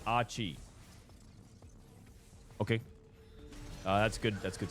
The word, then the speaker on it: AQ1H: FYI, AQ1H's name is pronounced Achi.